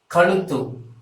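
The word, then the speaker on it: கழுத்து: ka and ugh you color too so this color will be presented as neck in English and it should be pronounced as color to in Tamil so color to means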